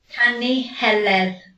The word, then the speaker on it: Canu Heledd: is called the Song of Helen, or the Canu Heleth, I think it's pronounced in Welsh, and it's a story. How do you say it? Canu Heledd.